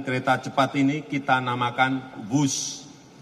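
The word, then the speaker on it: Whoosh: sistem hebat sekali lagi w h o o s h tapi membacanya wus keret cepat Jakarta Bandung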